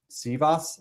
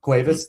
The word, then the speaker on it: Cuevas: Josh Sivas, I don't know how to say it exactly. Cuevas, thank you.